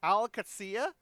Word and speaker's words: Qadsiah: We got players from, I'm going to pronounce this one wrong, Qadsiah, I think is how it's pronounced, the Saudi football team, who have picked up a load of players for a Rivals roster.